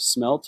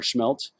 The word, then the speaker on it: smelt: week but I do have smelt or schmelt whichever way you want to pronounce it I have it so